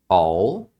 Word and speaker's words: I'll: There all be there I'll be there aqui ó é a contração de I will então eles pronunciam como All algumas pessoas vão pronunciar como quando é mais rápido então I'll be there I'll be there ou